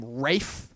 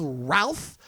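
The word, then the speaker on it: Ralph Fiennes: the Harry Potter movies you know to pronounce his name raef I'm like dude your name is not spelled Rafe it's pronounced Ralph I don't care if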